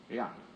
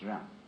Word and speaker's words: Jen: In Confucius philosophy, the fundamental virtue of a human being is called Yan, spelled Jen for reasons best known to Chinese scholars. I don't know what they are, but it's pronounced Yan.